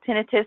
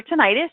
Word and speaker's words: tinnitus: facts and information about tinnitus or tinnitus you can pronounce it either way and hearing loss and